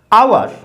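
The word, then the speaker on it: hour: एच ओ यू आर, आ उ ए रे, ये रे लास्ट वाला साइलेंट है, हमने इसको कहां लिख दिया, ब्रैकेट में लिख दिया, साइलेंट है ये। आवर, आ उ ए, आ उ ए, आउ ए, आवर, आवर।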